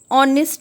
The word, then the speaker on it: honest: For example, we use an with honest man. Why? Because this is honest. H is silent. And honest is having the sound of O, which is a vowel sound.